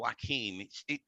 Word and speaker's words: Joaquin: another another odd one if you look at how you spell wakeem if you wrote it down it looks like joachim j-o-a-c-h-i-n there is something funny about